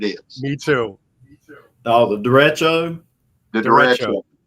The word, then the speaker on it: derecho: Oh, the derecho. The Derecho. Derecho. Okay, Right, that's the yeah, official pronunciation.